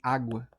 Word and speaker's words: água: Vou botar aqui água, cara. Água separa sim a sílaba tônica. Aqui o tó, né? Aqui o da água vai ser o a. É uma paroxítona, tá?